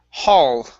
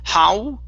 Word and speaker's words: hall: all right the word hall right here instead of how Okay uh pronounce an L touch the top of your tongue with your mouth o